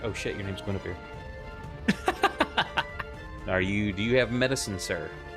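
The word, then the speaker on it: Guenhwyvar: In the Dritz books, I even named my cat after his panther, Gwynwyver. Until I realized, oh wait, that's Welsh. That's Guinevere. But it looks like Gwynwyvar.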